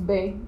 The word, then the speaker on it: Bae: Les amoureux, ils s'appellent Bae. Mais du coup, ça se prononce Bé. Like baby, oh my baby.